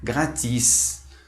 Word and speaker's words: gratis: Por exemplo, na palavra gratis, ou seja, esse S ele é mais alongado.